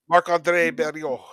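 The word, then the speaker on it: Marc-André Barriault: Marc-Andre Barriault.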